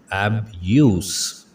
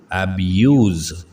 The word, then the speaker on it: abuse: अगर ये नाउन का मतलब देगा तो इसकी प्रोनाउंसिएशन होगी abuse, abuse, abuse, abuse। और अगर ये वर्ब होगा जिसका मतलब है गाली देना तो हम इसको जी के साउंड के साथ इसका तलफ़ुज़ अदा करेंगे abuse, abuse, abuse।